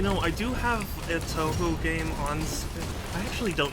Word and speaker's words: Touhou: isn't good i'm nervous touhou okay that's that's easy for me to remember then because i've heard it pronounced all sorts of different ways like tuhu and taoho and you know i